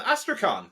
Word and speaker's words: Astrakhan: to the podcast Sean asan is that how you say your name you nailed it the K is silent but I'm so excited